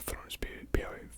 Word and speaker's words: Florence Pugh: And Florence Pugh, is how you pronounce her name.